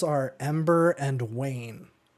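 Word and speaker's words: Wain: names are Ember and Wayne well it's spelled w-a-i-n like rain except with that w that's really cool I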